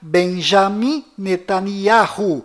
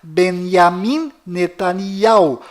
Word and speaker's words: Benjamin Netanyahu: bom volta no assunto fora de israel o nome deste primeiro-ministro é pronunciado benjamin metaniarro mas dentro de israel o nome dele é pronunciado benyamin netanyahu confira fora dentro fora